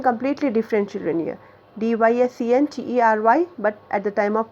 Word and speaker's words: dysentery: Pronunciation completely different, children, here. DYSENTERY, but at the time of pronunciation we should say dysentery.